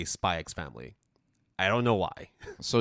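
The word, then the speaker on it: Spy × Family: also been pronounce as spy ex family right always uh officially they're both Hunter Hunter and spy family however while I do say hunter hunter I say spyx family I don't know why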